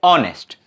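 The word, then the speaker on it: honest: ऑनेस्ट में भी क्या है, एच से स्टार्ट तो हो रहा है, कंसोनेंट से स्टार्ट तो हो रहा है, पर एच साइलेंट है, तो क्या आवाज आई, ऑनेस्ट, इसलिए हम यहां पर एन लगा देंगे।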